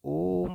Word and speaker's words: ओम: बोलते हैं फलत स्वर जैसे हम लोग ओम पढ़ते हैं ठीक है तो ओम में क्या होता है जो उच्चारण होती है ओम की ठीक है ओम हम लोग ऐसे लिखते हैं ना ओम ठीक तो ये जो उच्चारण की दृष्टि से है इसमें दीर्घ स्वर से भी एक मात्रा अधिक लगता है ठीक है तो